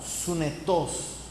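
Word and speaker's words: συνετός: original, hermano, se utiliza la palabra griega sunetos, con acento en la O, sunetos, S al principio y al final.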